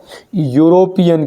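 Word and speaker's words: European: जाएगा ए क्यों क्योंकि नाम भले स्पेलिंग ई है लेकिन उच्चारण क्या हो रहा है यूरोपियन यू य यग आ रहा है य यग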